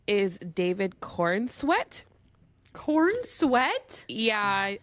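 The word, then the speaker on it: Corenswet: his name is David Corn sweat corn sweat yeah it's not a good last name is that how it's pronounced corn sweat it's like c-o-r-e-n-s-w-e-t corn sweat corn sweat maybe it's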